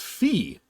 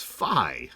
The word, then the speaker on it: Phi: But yeah, it's actually not Fee. It is Phi, apparently.